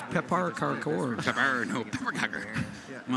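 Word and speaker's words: pepparkakor: pepper Parker kecker, pepper kecker, Pepper cake. pepper kecker. Of course. No, pepper kecker. Come on. I pronounced Guys, that. you obviously I can't pronounced read that well. Swedish. It's Pepar Karkor.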